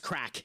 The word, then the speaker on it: craic: Craic is how it's pronounced. Like, it's spelled Craic, but it's pronounced the same way as it would be as it's just replaced the C with a K. It's pronounced crack.